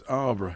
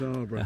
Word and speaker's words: Alburgh: Yeah, it's spelled Alburgh, A-L-B, Yeah. Alburgh. Yeah. It's Arborough. That's right, it's yes. Alburgh. So Russell says. It is, trust me, it's Arborough.